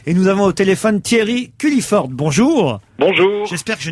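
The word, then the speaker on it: Thierry Culliford: leur 50e anniversaire et nous avons au téléphone Thierry culliiford bonjour bonjour J'espère que je n'écorche pas votre nom non non non vous le prononcez parfaitement bien qui était donc aussi le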